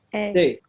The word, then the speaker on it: station: Okay, what about station? Stay. Yeah, the first part, stay, the A after T, correct. What about airport?